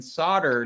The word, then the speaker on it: solder: as a european right why the l in solder doesn't get pronounced by americans right yeah we don't say that l and it drives people